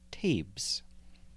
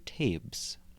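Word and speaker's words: Taibhse: one word in quotes it's t-a-i-b-h-s-e I think it's pronounced tapes so ghost clothes by tabes the fact that ghosts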